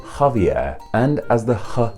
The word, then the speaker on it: Javier: english so that means in spanish xavier started to be pronounced with a sound and became javier and as the ha